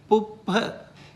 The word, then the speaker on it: puppha: So with the H, it is P. It's like explosive, right? P.